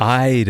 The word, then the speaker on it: Ida: When this Ida sees us, Ida, that's how you say her name.